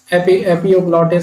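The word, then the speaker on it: epiglottis: है इसका है इपोग्लॉटिस इसका क्या नेम है हिपोग्लोटिस एपियोग्लॉटिस इस तरीके से प्रोनाउंस करते हैं ई पी आई जी एल O double T आई एस तो ये हो गया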